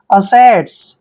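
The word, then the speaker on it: assets: एस को हम स पढ़ते हैं ई को ए की मात्रा पढ़ते हो टी को ट पढ़ना है एस को स पढ़ना है असेट्स असेट्स होता है पूंजी या फिर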